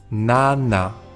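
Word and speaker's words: 나: Cuando hacemos la N solemos tocar con la lengua la parte de arriba de la boca, pero en coreano se tocan los dientes. La pronunciación es distinta, pero tampoco se nota mucho. Escuchad bien. La española es na y la coreana na.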